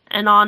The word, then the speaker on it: Anon: yes uh Mel writes Anon is pronounced Anon the name was to be similar to Anonymous as I needed a